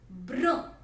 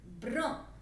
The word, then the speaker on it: brun: Brown will be brun. Brun. It's little similar to brown, but the pronunciation and the spellings are entirely different.